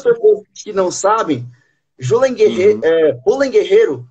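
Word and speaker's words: Julen Guerrero: pessoas que não sabem J ren Guerreiro na verdade é a pronúncia correta ele é um ele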